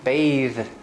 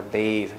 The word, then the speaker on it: bathe: is this one and you add an e bathe and the vowel also becomes longer bathe the verb so sometimes